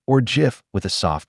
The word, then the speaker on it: GIF: #81SBloCloud says, Vera, is a GIF with a hard G or GIF with a soft G? GIF. It's pronounced with a hard G.